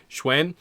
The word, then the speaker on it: Xun: It's almost like uh S H W E N.